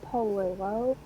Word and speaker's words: Polillo: It's Flo Polillo.